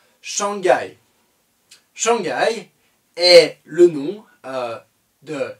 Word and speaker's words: Shanghai: shanghai shanghai et le nom de chiang rai 1 en français shanghai on le dira shanghai donc cette ville de lachine est prononcée en français shanghai de la même manière